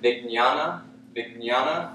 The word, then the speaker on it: Vijnana: Anandamaya Kosha, when there's a J and an N in Sanskrit, it has sort of a G N sound, like Vijnana, or like the N would have a tilde in Spanish.